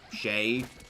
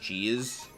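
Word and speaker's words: chez: I read it is cheese is because I took French in high school and c-h-e-z is pronounced like Shay and but I always just default the pronouncing it cheese sorry about that I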